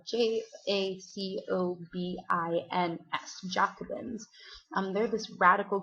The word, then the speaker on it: Jacobin: by a group of radicals called joobin so it's spelled j a c o b i ns Jacobin um they're this radical group that's really